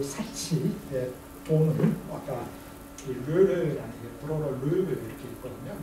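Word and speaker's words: Lheureux: 그래서 이제 그 사치의 돈을 아까 르르라는 브로로 르르 이렇게 있거든요. 르르 끝에 X는 발음이 안 하고 르르에게서 돈을 빌려서 사치스러운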